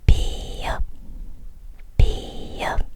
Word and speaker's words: 비읍: ㅂ âm [b] tên của cái này[ㅂ] là 비읍 ㅅ âm [s] tên của cái này[ㅅ]